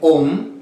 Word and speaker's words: Om: Y se pronuncia de la siguiente manera. O sea, la O y la M. M de mamá.